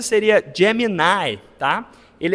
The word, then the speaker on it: Gemini: O esse do Google, a pronúncia seria Gemini, tá?